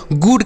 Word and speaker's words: गुड: बोला जाता है ना तो हम यहां पर डबल उसे बच्चों बड़ा ऊ की मात्रा का उच्चारण नहीं करेंगे तो इसे हम ऐसे पढ़ेंगे जी से पढ़ेंगे ग और डी से ड पढ़ेंगे और डबल ओ से छोटा ऊ की मात्रा पढ़ेंगे तो इसे हम पढ़ेंगे